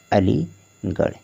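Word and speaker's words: Aligarh: हो जाएगा ठीक है और आर ए से क्या हो जाएगा ड़ हो जाएगा हो गया अलीगढ़ इसी तरह से आपको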